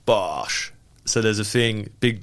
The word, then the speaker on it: Boshhh: Boshhh. Boshhh. You got to say it like that, otherwise it don't count.